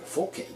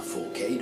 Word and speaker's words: fourcade: plus étrange en anglais, qui est fourcade, forcade, qui je suppose se prononcera forcade ou forcade si on francise.